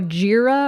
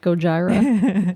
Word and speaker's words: Gojira: band with lights and called go goira or goira I'm sure I'm pronouncing that wrong Gojira Gojira the the Go-Gurt Mansion